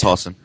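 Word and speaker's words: Hossin: released a new continent hen I don't know how to pronounce that it's like h o SS I yeah it's hen yep all right the map is now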